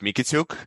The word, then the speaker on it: Mikitiuk: actually can pronounce it it's pronounced mikituk and this u sound is not what a typical American used to so is fine